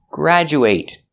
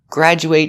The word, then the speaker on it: graduate: Example, graduate. Graduate is a verb making the long a sound.